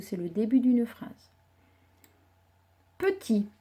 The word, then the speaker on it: petit: Petit, syllabe par syllabe. Petit. À la fin de petit, il y a un T muet parce qu'on pourrait dire si c'était une fille petite.